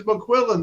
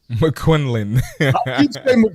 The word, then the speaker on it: McQuillan: It's McQuillan. There's no N in the middle of that. McQuinlan.